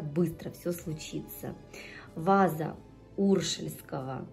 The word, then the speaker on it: уршельского: все случится во за уршельского мне сказали что правильно именно на первый слог ударение ставить я сегодня приобрела и